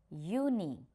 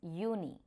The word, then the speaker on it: Juni: January, Januar, February, Februar, March, März, April, April, May, Mai, June, Juni. We know, we have already learned this, that J will take Y sound. So that's why it is Juni.